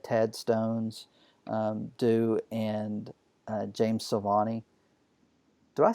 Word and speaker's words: Silvani: that he's had Ted stones do and James Silvani do I say his name right you did